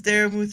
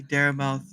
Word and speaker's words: Daramouthe: My name is Daramouthe, or Dara for short, because unfortunately people still say Daramouthe, even though I've tried to tell them there's a silent e at the end, but no one listens to me.